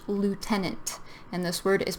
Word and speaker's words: lieutenant: And this word is pronounced lieutenant. And this word is pronounced colonel. These words, they don't look, the spelling is totally different from how you pronounce them.